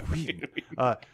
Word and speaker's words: Whedon: I'll pronounce the Whedon. H. Whedon.